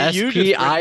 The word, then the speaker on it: Spiel: But he's Spiel. It's Spiel. Oh, Spiel? There's no H there.